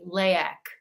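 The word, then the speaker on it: leyak: is no spell it I think it's l-e-y-a-k layak okay layak is like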